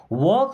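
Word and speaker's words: walk: यह मायने नहीं रखता वक स्लोली दोस्तों यहां पे एल साइलेंट होता है अब इस वॉक का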